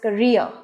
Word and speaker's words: career: r would pronounce as career and the stress is on the second syllable re so it would sound as career so the next word